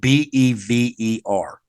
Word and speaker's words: Bever: It's actually spelled Bever. So pronounced like Beaver the animal, spelled without the A.